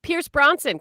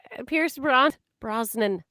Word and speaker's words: Pierce Brosnan: Pierce Bronson. Can we talk about his Pierce Brosnan?